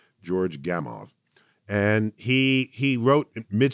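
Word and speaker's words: Gamow: popularizer uh named george gamov g-a-m-o-w the w pronounced as a v george gamov and he he wrote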